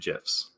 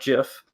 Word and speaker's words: GIF: you can do animated gifs it's pronounced jif by the way not gif and we know this